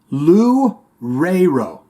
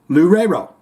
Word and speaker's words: Loureiro: Cyber FX01 here in the comments says, in Portuguese, his name will sound like Kiko Loureiro. Loureiro. So I'm saying it right now, Cyber FX, right?